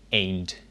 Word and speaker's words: eend: Again, the D at the end of the word sounds a bit like a T. De eend.